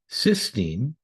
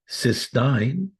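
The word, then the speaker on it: cystine: In this discussion, we'll look at the most popular ways: oral glutathione, cysteine, cysteine. Please note the difference in both spelling and pronunciation.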